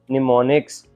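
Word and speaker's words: mnemonics: Like words known as निमोनिक्स। अब वो जो ज़ीरो और वन से इसमें इंग्लिश के वर्ड्स के साथ उनको रिप्लेस कर दिया गया। इट is pronounced as निमोनिक्स।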